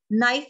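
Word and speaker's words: knife: नाइफ में के silent है.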